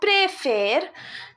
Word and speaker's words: préfère: So whenever we are using acute accent, we pronounce it as A. Je préfère, tu préfères, elle préfère, nous préférons, vous préférez, il préfère, elle préfère.